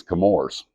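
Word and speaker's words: Chemours: in the heck is camors and a lot of people's uh say it like CH like Chewie and it's chemistry that's ours is where the name derives now that doesn't mean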